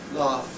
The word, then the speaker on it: laugh: Laugh, GH spelling, but what's the sound? The sound is an F sound. Laugh.